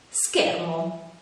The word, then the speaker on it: schermo: sciatore scena e fish quando invece sono seguite da le altre vocali oppure dalla lettera h si pronunciano in modo più duro ad esempio scatola scoiattolo scuola schermo beh per ora la